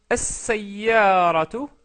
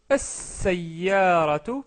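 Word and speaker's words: السيارة: Donc toutes ces lettres se doublent au début, donc c'est pour ça qu'on met une shadda et on ne prononce pas le lem.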